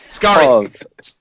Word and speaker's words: Skari: Skari. The pronunciation of Skari.